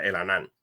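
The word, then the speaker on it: Elhanan: se llama el anan e e l h a n a n no lo s pronuncia el anan entonces aquí estos dos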